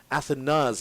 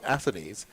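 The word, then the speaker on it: Athanaze: Athanas, in fact, I think one of the reasons why there's that confusion for the pronunciation, there was another player who would have played for Antigua some years ago. He's now in his 30s. That's Justin Athanes. His name was pronounced Athanes, but this young man is Alec Athanas.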